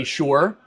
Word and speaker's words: Bayshore: Bayshore is 2 words. You have to say it slower. Okay. Bayshore.